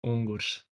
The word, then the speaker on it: Ungurs: Because I'm going with Ungers. I think, Mitoe, you're putting a bit more emphasis on the Ungers. What's the best way for us to pronounce it going forward? So in Latvian, it's Ungurs.